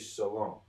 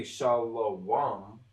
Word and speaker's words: Shalom: all gets connected because the way that this gets pronounced is shalom it's still Shalom you're going to hear people try to say shalam but it's still going to get pronounced Shalom the same way that